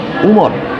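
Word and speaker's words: عمر: থাকে তাহলে সেটার উচ্চারণ, আইন মিম র এরপর যদি ওয়াও না থাকে তাহলে তার উচ্চারণ হবে উমর, আর যদি ওয়াও থাকে তাহলে তার উচ্চারণ হবে আমর।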